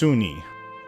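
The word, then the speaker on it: Sune: My admiration of Suni is based upon her appeal to beauty inside and out, but mostly because of her affinity with true love. Sun, S-U-N-E, pronounced Suni, also known as Lady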